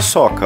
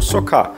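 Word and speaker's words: socca: E com certeza a mais famosa de Nice é a soca, ou socá, na pronúncia francesa, que é um tipo de crepe à base de grão de bico.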